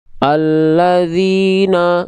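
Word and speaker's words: الَّذِينَ: No, no, alladzina. Enggak, tapi kita tipiskan pelafalannya. Alladzina, alladzina, alladzina. Ya, oke. Jadi bukan Allah, tapi alladzina.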